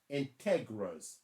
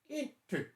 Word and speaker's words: integers: adding and subtracting integers they are not pronounced integras like a kid told me mr gill are you mispronouncing that it should be integrals i'm like no you didn't stop the madness it is enters do i make myself